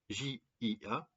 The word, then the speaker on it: Jia: En chinois, cette énergie 37 du clan ou Jean du clan s'écrit avec deux idéogrammes, J-A, J-I-A, Jia et Ren.